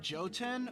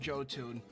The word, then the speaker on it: Jotun: Is your name pronounced like Joten or Goten but Joe? It's actually just Jotun. J-O-2-N, Jotun, because it's supposed to be a pun, like Joe Moon's second channel, Jotun, but it's cartoons.